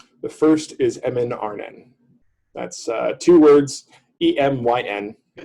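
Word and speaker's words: Emyn Arnen: i'll tell you two names the first is mnrn that's uh two words e-m-y-n a-r-n-a mnrn it's a small area of hills just west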